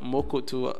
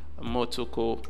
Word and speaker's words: Motoko: Instead of Mokoto, Motoko, I always call it Motoko. No, instead of Motoko, I always call it Mokoto. You understand what is actually spelled or pronounced Motoko, you know, programming language, ends with .mo.